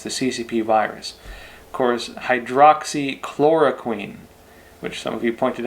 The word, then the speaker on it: hydroxychloroquine: Of course, hydroxychloroquine, which some of you pointed out I pronounced wrong before, so thank you all.